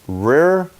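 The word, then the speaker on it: ריר: white white that's Hebrew 73 88 and it's pronounced rare and it means broths or spittle saliva all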